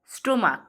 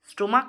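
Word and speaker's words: stomach: যেমন স্টমাক স্টমাক মানে আমরা জানি পাকস্থলী।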